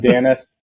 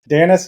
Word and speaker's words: Danaus: uh Peter thank you you pronounced my name correctly so again I'm danis danis um quick little background